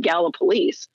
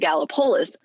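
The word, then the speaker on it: Gallipolis: me like if i if i mispronounce in virginia or west virginia the town of gala police and i call it gallopolis somebody's going to come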